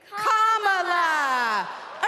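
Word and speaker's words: Kamala: do you pronounce it first you say comma like a common sentence then you say la like la la la la la put it together and it's one 2 three comma all right so let's practice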